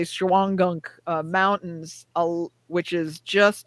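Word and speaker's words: Shawangunk: the time there's the you're not going to pronounce this right scholangum so we would just say shuangunk uh mountains which is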